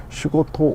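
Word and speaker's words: 仕事: 우리말로 우리식으로 읽으면 사사, 일본 아이들이 말하면 일본식 발음으로 말하면 시코토 오 수도도 이유.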